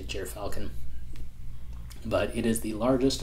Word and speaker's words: gyrfalcon: maneuverability lastly we have the jeer falcon or jir falcon i don't know how other people pronounce it i say jeer falcon but it is the